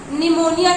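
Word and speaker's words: pneumonia: की स्पेलिंग पूछता है, तो निमोनिया में ना पढ़ा जा रहा है लेकिन निमोनिया में पी होता है, पी एन होता है, निमोनिया की स्पेलिंग पी से स्टार्ट होता है, पी निमोनिया नहीं पढ़ा जाता, निमोनिया पढ़ा जाता है।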